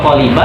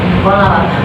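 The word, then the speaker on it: قلب: Coba qf lam ba lihat kamus qolaba atau qoliba atau qoluba? Qolaba.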